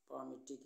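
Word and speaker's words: palmitic: ये पामेट acid है पामेट इसमें एल साइलेंट है पामेट एसिड ठीक ये पामेट एसिड है तो ये फैटी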